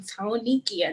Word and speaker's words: Tonykea: to say cold you made sure to pronounce that tony in my name tonikia that's how it's pronounced too look at first